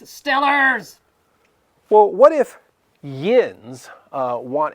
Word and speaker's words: Steelers: It's pronounced Stillers.